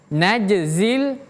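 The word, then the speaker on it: نجزي: Nah, kemudian huruf jim kalau dia sukun atau dia mati, jimnya jim mati, maka huruf jim tersebut ada qolqalah atau memantul. Jadi, ada pantulan suara. Jadi, bacanya naj, naj, aj, ij, uj, najzil.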